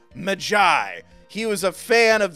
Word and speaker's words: Maggie: did indeed leave a name Maggie but is pronounced Magi he was a fan